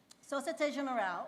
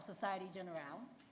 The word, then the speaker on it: Société Générale: Société Générale, or Société Générale, I try to say it the French way. Did I say it correctly?